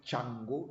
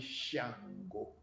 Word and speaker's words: Shango: west africa in nigeria they don't call it chango they call it shango shango and shango means the